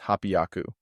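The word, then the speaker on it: 八百: yaku and 800 is hapiaku these use double consonants to change h y to ppy so 342 is pronounced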